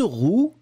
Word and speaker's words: roue: Une roue, un roux, eh bien, on les prononce de la même façon.